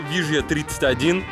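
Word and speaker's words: Villa 31: Вот из окон этого Шератона виден местный, самый известный район фавел Вижья 31. По-английски Вилла 31 пишется. Здесь 2Л читается как Ж.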